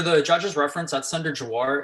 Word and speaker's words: Jhawar: Jawar. Thank you. For the judge's reference, that's Senator Jawar. It's spelled Jhawar.